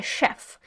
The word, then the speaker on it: chef: A chef. Зверніть увагу, у нас в цьому слові CH, але ми вимовляємо його як Ш.